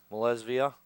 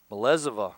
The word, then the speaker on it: Malezova: It's no balls and 2 strikes to Malesvia. Malezova, actually, is how you pronounce that.